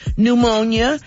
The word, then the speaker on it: pneumonia: uh number two is pneumonia because the p is silent now let's see if